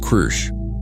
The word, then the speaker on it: Kru: "This one is called Kru," he pronounced it with a rolling growl that her translator struggled to copy.